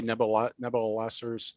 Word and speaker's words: Nabopolassar: How do you say Nabopolassars?